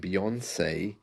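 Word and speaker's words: Beyoncé: it strange that uh the word or the name Beyonce rhymes with fiance isn't that strange I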